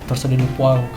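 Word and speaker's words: torsade de pointes: Tulisannya torsado de Pointes, bacanya ya torsado de Poinct.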